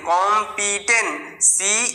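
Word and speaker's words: competence: মধ্যে পড়ছে কম পি টি ই এন টেন কম পি টেন সি ই শুধু এখানে সি এর পরে সি এর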